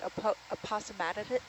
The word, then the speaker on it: aposematism: to be warning you of danger, it's called aposematism. It's hard to say, but APOSETISM. How do you say it again? I say like aposematism.